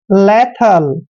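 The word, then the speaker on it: lethal: मात्रा पढ़ते हैं और टी एच का उच्चारण हम थ करते हैं ए एल को ल पढ़ते हैं लेथ लेथ होता है दोस्तों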